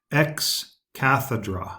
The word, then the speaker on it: ex cathedra: moments the Pope teaches ex cathedra I'll spell it out for you e X space C athe DRA now that word sounds a lot like Cathedral right because the Cathedral that